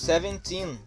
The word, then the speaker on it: seventeen: a última sílaba ela a seventeen nós falamos seventeen que é a sílaba tônica então muito cuidado na